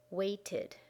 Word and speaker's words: waited: Wait only has one syllable, but when we make it past tense, it becomes 2 syllables. Waited, waited, waited.